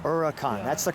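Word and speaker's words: Huracán: And I appreciate that, because I thought it was the Huracan, but it's say it again. Huracan. Huracan. Yeah. That's the correct way to say it. Correct. Yeah, the H is silent.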